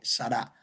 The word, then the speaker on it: Sara: Entonces, el verdadero, la verdadera pronunciación es sará.